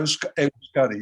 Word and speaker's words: Euskadi: Is that how you pronounce it? Yeah, Euskadi, yeah.